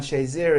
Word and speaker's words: Shazier: I think the reason why Jim Frazier's so enamored with Ryan Shazier is Shazier kind of rhymes with Frazier in his mind.